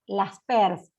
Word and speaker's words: Laspeyres: índice de precios y la l es por las pers se escribe laspeyres con y en el medio y fue el creador